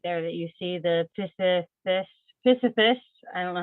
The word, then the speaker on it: Pisolithus: That Dyer's ball right there that you see, the Pisiphis, I don't know how you say it properly, sorry. Pisolithus. Pisolithus, thank you, Stephen.